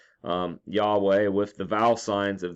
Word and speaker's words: Yahweh: Many Greek transcriptions also indicated that these 4 consonants should be pronounced Yahweh.